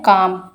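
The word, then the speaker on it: calm: यस, इसी तरह से सेकंड वन देखिए नील, तो यहाँ पर के साइलेंट रहता है तो हम के को जो है सर्कल करेंगे।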